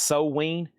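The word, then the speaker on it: Samhain: Sam Hain's a $50 start. It's pronounced So-Ween.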